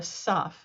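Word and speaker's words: ת: Now, it used to be in the Ashkenazi pronunciation that taf, without a dagesh, without this dot, would be a saf.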